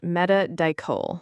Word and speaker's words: Metadichol: It's pronounced metadol.